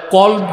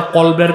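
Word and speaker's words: قلب: যাদের কলব ঠিক তারা খুশি। আগের বক্তা বলছে না কলবের কথা, তো সতর্ক থাকবেন। কালব না, কালব মানে কুত্তা, উচ্চারণটা হবে কলব।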